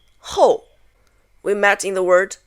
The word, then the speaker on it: 后: 很多 The next one is pronounced 后 We met in the word 有时候 which means sometimes.